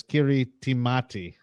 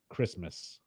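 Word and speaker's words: Kiritimati: probably pronounce that as Kiri timati kirikamati but that's actually not how it's pronounced it's pronounced Christmas the ti is an S sound uh this is Christmas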